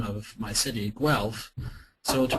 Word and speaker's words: Guelph: Many outsiders have trouble pronouncing the name of my city, Guelph. So to pronounce the name, basically one starts with Guelph, the original German form. The Italians added a hard G sound to form Guelph, and that's the pronunciation the British adopted.